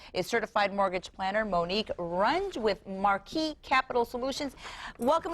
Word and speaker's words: Runge: You know, you and I are friends, and I have a feeling I'm pronouncing your your name, your last name incorrectly. Am I? It's Rangi.